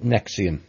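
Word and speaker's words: NXIVM: of this particular group it's called nexium but it's spelt an x IV m and it was set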